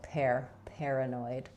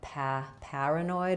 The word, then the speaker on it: paranoid: You can think at the end of the word is just like the word annoyed, except we're not really stressing on the last syllable here. So paranoid. There are some regions where you might hear it more like paranoid with the a vowel. That would be a New York or Boston accent.